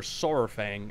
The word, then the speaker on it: Saurfang: that's the whole thing or soar Fang as it's supposed to be pronounced is a legend amongst